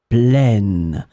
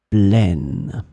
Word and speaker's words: pleine: Mon assiette, it's a feminine noun, so the adjective plein, it's in the feminine form, and this is when you get the sound pleine, pleine.